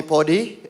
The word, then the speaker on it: Podi: um please call me Podi if you don't know how to pronounce it it's iPod move the eye to the back pod all right thank you